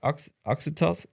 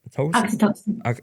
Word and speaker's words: Oxytocin: Oxytocin. Oxytocin.